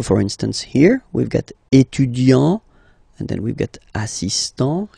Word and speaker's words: étudiant: Okay, so it will of course change a little bit the pronunciation, because you will pronounce it at the masculine form. Il est étudiant.